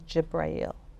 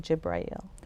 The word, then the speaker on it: Jibreel: So, the Arabic word for Gabriel is Jibrail, just for information purposes. Yeah. Yeah. So we say Jibrail.